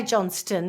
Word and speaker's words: Johnston: 2015 Damien Johnston and I say Johnston because it's got a tea in it makes sense how you pronounce it yes Dam on Johnston